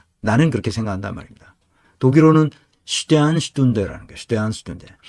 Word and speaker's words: Sternstunde: 이게 표기할 때는 슈테른슈툰데라고 쓰는데 독일 사람들의 본래 그 표준 발음은 슈테안이라고 합니다. 슈테안슈툰데. 슈테른이라고 발음하는 걸 나는 한 번도 들어본 적은 없어요. 슈테안. 근데 우리가 표기할 땐 슈테른이라고 하죠.